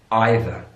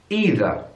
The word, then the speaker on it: either: it either or either well in British English it's either either American English either either which one do I